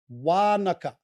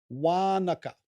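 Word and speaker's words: Wānaka: coming inland to lake waanaka wanaka remember there's a macron over the a on wanaka here's the next one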